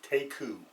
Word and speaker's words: Teku: or sorry it's about T EKU and it's pronounced take who that's what I got and basically the name